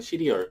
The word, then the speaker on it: 씨리얼: 소개할 스튜디어 리아는 사이트입니다 발음은 시리얼 먹는 그런 이름인데 이게 c 이제보다 의